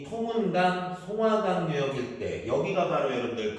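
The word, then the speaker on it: 松花江: 그래서 얘를 송화강. 근데 중국에서는 이거를 둔탁하게 발음해서 숭화강. 그렇게 얘기해요.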